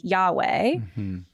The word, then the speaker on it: Yahweh: that in English um trying to pronounce the Hebrew sounds we would say today Yahweh.